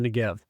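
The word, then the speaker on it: Negev: the NGB in Hebrew the BET which acts as this B on the end of NGB can be pronounced either as a b sound or a v sound continuing on in verse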